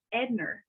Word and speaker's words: Edna: name was always pronounced Edner. So I thought her name was Edner. And so whenever I finally saw, when I went to, after she passed and we see the gravestone, it's spelled Edna.